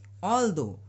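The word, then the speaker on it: although: लिए हम दो बिल्कुल सही टू जो होता है इंग्लिश में जिसके लिए हम हिंदी में दो कहते हैं एक दो तीन बोलते हैं ना तो वो दो जो आता है उसी तरह इसको प्रोनाउंस करना है तो क्या पढ़ेंगे ऑल दो ऑल दो रूम वास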